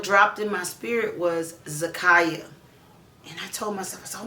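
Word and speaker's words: Zakiyah: It is uh, let's see, the name Zakaya. Z A K I Y A H. It sort of spelled like it's going to rhyme with Zariah.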